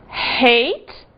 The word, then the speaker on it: hate: E cuidado aqui com o seguinte: hate, ódio ou odiar, que se não for pronunciado h pode dar uma confusão e virar o passado de eat, que é ate. Aí fica o passado de comer, não é? Cuidado. Hate, eight.